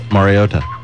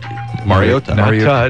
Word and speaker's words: Mariota: Pronunciation of Mariota. Mariota. Mariota. That sounds like TOH. That's incorrect.